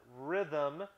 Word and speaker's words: rhythm: we don't go rhythm we don't pronounce the first h but rhythm name that you can